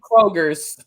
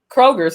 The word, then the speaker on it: Kroger: So we pronounce everything except for like Kroger's. Well, Kroger, is it Kroger's? Meyer? Yeah, we put an S. We love to put S's on, like it's Costco's.